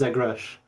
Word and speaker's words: Zegres: Maybe I'll say it's pronounced Zegrash. I'm not mysterious like Grockles or anything though, or at least that's how I say Grockles. I feel like as far as how my name is pronounced, it's I'm fine with anything, but Zegrash almost sounds a little bit more like Russian or something.